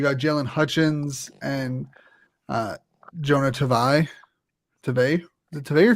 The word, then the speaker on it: Tavai: And on defense, you got Jalen Hutchins and Jonah Tavai.